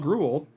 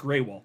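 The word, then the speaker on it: Grewal: ETF applications coinbase's Chief legal officer clo Paul gruul oh no actually it's pronounced greywall I I it looks like GRL I know that but I've heard him say it's it's Paul Greywell um anyway so Paul Greywell has become the latest crypto stakeholder to comment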